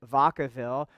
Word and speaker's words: Vacaville: Because while we called it Vacaville, it's better pronounced in the Spanish Vacaville, and vaca means cow.